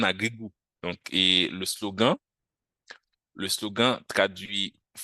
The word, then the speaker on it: Agrigou: agri, où il y a le préfixe agri qui signifie terre, et aussi agri, et, et goût, le goût en créole, G-O-U, c'est goût en créole. Donc, ça sonne comme le français, mais ça s'écrit sans le T. Donc, goût. Donc, ça nous donne agri-goût.